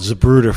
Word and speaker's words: Zapruder: Zapruder.